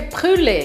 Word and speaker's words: brûlée: A pronúncia certa é brûlée.